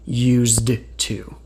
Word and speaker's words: used to: We write, did you used to, not did you used to. But when speaking, you don't need to worry about that because, again, we never actually pronounce the D.